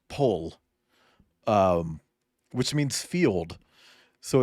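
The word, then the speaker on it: поле: uh that's a that that that word is pronounced pole um which means field so it's a it's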